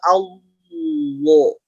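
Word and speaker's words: الله: Simak lagi, tidak dimonyongkan, tidak Allah. Ya, ada yang fatal itu adalah mencampurkan dengan huruf waw. Contoh, Allah. Jadi Allah terdengarnya malah jadi Allah. Yang tepat simak sambil simak cara bacanya. Allah. Tidak Allah.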